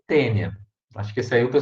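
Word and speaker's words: Taenia: tem eh saginata né se escreve thaeme mas ele tênia acho que saiu que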